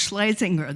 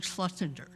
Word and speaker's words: Schlesinger: It's pronounced Schlesinger. That's the family's pronunciation. and it's less of a mouthful than Schlesinger.